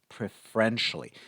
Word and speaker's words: preferentially: Pay attention to the pronunciation of the word preferentially, because we have a verb which is prefer, but this word is pronounced preferentially.